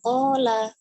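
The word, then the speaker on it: قال: Jadi jangan terlalu cepat kola Rasulullah sallallahu alaihi wasallam. Kola Rasulullah. Ya kolanya itu ko-nya ada alifnya. Demikian ketika tadi opung membaca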